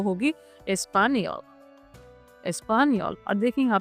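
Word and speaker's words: espagnole: ऐड कर देंगे और इसका प्रोनाउंसिएशन क्या होगा स्पेनियोल। इसका भी सेम रहेगा स्पेनियोल, स्पेनियोल, बट इसमें यही एक छोटा सा चेंज रहेगा, लास्ट में फेमिनिन में ई ऐड कर देंगे।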